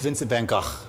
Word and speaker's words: Vincent van Gogh: If you want to get beat up in a bar, say his name correctly. It's Vincent van Gogh.